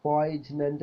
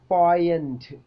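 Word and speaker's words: poignant: ഇൻ പോയ്നന്റ് ഓർ പോയിഗ്നന്റ് നമ്മൾ എങ്ങനെയാണ് ഉച്ചരിക്കൽ അല്ലെ പോയ്ജ്നന്റ് അല്ലെങ്കിൽ പോയിനെന്റ് എന്ന് ഉച്ചരിക്കും ശരിക്കും എങ്ങനെയാണ് പോയന്റ് പോയന്റ് പോയന്റ് ആ ഉച്ചാരണം നോക്കൂ പ്രൊനൗൺസിയേഷൻ ട്രാൻസ്ക്രൈബ് ചെയ്ത് എഴുതിയത് ശരിക്കും നോക്കൂ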